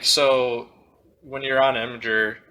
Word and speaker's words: Imgur: It's technically Imager, but you're wrong. It's Imgur, in my opinion. It will always be Imgur.